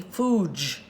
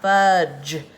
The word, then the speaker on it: fudge: So, but if D was not there and it was F, U, G, E, and it would turn it into a silent E word, that would make that U long. He would zip his lips and G could still change to the J sound, and that would be fooge, not fudge.